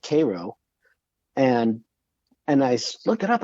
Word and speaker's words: Cairo: And so where I work, this couple came in from near a town called, it's spelled like Cairo in Egypt, but they pronounce it Cairo.